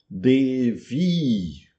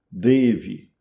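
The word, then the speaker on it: देवी: Você engole o a final, o feminino de Deva, então um ser divino feminino em sânscrito. Devi com i longo no final. Vi pronúncia em rinde, deve. O i final curto.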